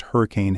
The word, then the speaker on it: Henry Can: To top it off, the Moody Center was hosting a Florida-Georgia Line concert, and Henry Can pronounced Hurricane had 2 front-row tickets to the show for him and his wife Melanie.